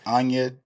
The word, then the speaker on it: Anya: No, I was calling her Anna Joy Taylor. Yeah. And someone was like, her name is Anya. I said the Y is silent.